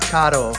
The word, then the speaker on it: Kato: Yes, it is pronounced Kato, and I learned that on the internet for us beginners.